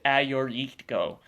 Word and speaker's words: Agiorgitiko: t i k o that sounds like phonetically this would sound like what a g or e go um it's actually a or e to go so a your e ti ko eritko um that's the greek wine it's actually the